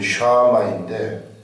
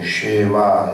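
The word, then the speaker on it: שמע: 그러면 여기서 말하는이 순종은 원래 원래 발음은 샤마인데 보통 쉐마 이런 말을 좀 들어라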